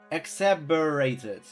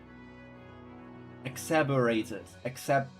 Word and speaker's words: exacerbated: How to pronounce that word? Exacerbated. Thank you, Piper. I changed that word up. Something Ananta, but ITSD. That sounds like freaking STD. Exacerbated.